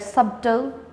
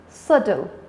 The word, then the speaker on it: subtle: don't pronounce it's like subtle so it's subtle b is silent what else synonym of